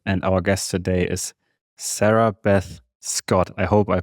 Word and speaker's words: Sarabeth Scott: I'm here with Phillip and our guest today is Sarah Beth Scott. I hope I pronounced your name correctly.